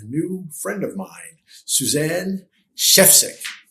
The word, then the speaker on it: Schefcik: I'm your host, Corey Zelnik, and today I have a special guest, a new friend of mine, Suzanne Chefsick, like the chef is sick.